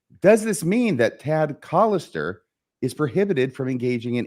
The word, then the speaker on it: Collister: mean that t and it's collister by the way you habitually mispronounce his last name I think I've corrected